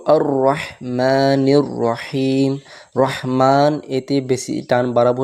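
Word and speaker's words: الرَّحْمَٰنِ الرَّحِيمِ: যেহেতু লাম আছে ওজন্য আলিফে জবর আসবে তো আর রাহমানির রাহিম রাহমান এতে বেশি টান বাড়াবো না এক আলিফ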